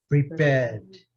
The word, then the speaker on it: prepared: Aqui agora, prepared. Ao inglês britânico, prepared. Okay? Ao inglês americano, prepared. Esse não é pronunciado.